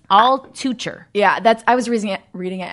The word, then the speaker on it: Altucher: It's so not that last name, but it's Altucher.